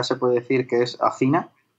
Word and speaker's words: Athena: Oye, para las personas que no lo conozcan, esas 3 ramas, o sea, ¿Adina? Athena. Se escribe como Athena, A-T-H-I-N-A.